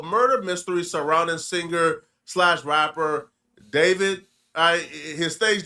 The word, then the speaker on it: D4VD: If you guys are not aware, I'm talking about the murder mystery surrounding singer rapper David. I his stage name is D4VD. I never heard pronounced David.